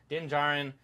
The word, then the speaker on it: Din Djarin: Okay, Din Djarin and his youngling apprentice Grogu.